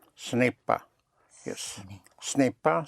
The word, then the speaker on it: ce n'est pas: Ce n'est pas. Ce n'est pas.